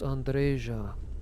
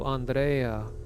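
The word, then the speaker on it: Andreja: andresia andresia and yes your name is pronounced andresia because I did research into lots of different other East European languages most of them do Andrea but specifically Romanian pronounces it andresia and also one of the other installation people pronounces it andresia as well uh where am I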